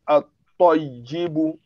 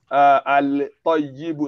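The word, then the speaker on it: الطيب: So you are going to do it gum of that Lam in tongue, which means that you are going to pronounce at-toyibu, at-toyibu, at-toyibu, not al-toyibu, not al-toyibu.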